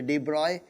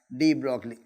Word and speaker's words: de Broglie: de Broglie wavelength now this is not the connect pronounciation actually D broy but will pronounce him as D broadly in 1924 French physicist